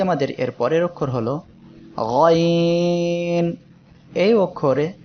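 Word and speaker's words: غ: আজকে আমাদের এর পরের অক্ষর হলো গয়ন। এই অক্ষরে 3 আলিফ টান হবে। সবাই একসাথে উচ্চারণ করি, গয়ন। এই অক্ষরের মাখরাজ হলো কণ্ঠনালীর শেষ ভাগ থেকে, অর্থাৎ এই জায়গা থেকে উচ্চারিত হবে।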